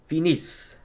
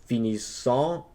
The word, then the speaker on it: finissent: And lastly, we have il, elle, finissent, finissent. We don't pronounce it as finissant. It would be finis. The e and t are silent.